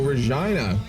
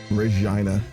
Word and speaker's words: Regina: our military yeah Regina Regina like vagina am I saying that right Regina or Regina like Regina all right word sure why not no second one Regina okay cool about to say full oh I'd be walking around killing things that but you know hey it's not my culture no wrong Jesus Christ resign oh Regina it is like that okay Regina finally you